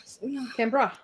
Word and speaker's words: Canberra: Okay, here's the pronunciation. Thank you. Canberra.